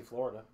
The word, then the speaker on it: Flo Rida: I was going to say Florida. The girl said Georgia. And this was a millennial. Yeah, so. She goes, Georgia. Oh, wait, yeah, Georgia. Well, his name is Flo Rida. and it's spelled like Florida.